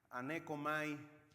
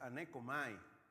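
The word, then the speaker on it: ἀνέχω: fuera H pero la la H aquí no se pronuncia y es aneco y esto quiere decir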